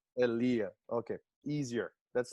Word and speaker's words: Aliyah: I would say ALIYAH, but That's how most people pronounce it, but it's ALIYAH. ALIYAH.